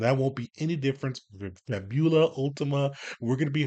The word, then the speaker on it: Fabula: pronounce uh the name it's fabula we kind of really emphasize that you and then ultima's easy on that side uh but yeah we're